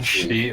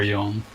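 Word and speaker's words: 四: Oh, 4 is the one that can be pronounced like 2 ways, right? Like, yeah, it's also she or yon.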